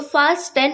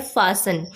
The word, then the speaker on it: fasten: तो फास्टन वो इसे बोलते हैं, लेकिन इसकी करेक्ट प्रोनाउंसिएशन होती है फासन। यहाँ पे T साइलेंट होता है, ध्यान रखिएगा।